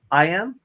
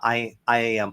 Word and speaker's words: IAM: uh I am how what's the right way to say it Killian you you talk about this a lot more than I do uh I am is that what you're saying yeah yeah I am okay cool uh or